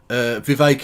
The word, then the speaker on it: Vivek: Vivek, it rhymes with K.